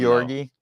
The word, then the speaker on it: Georgi: You got to say it like Dalton. Georgi Koskov.